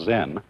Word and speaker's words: Zen: this experience is dominant Zen of course is a Japanese word and uh it's spelled Zen and that is the Japanese way of pronouncing the Chinese word chan and this in turn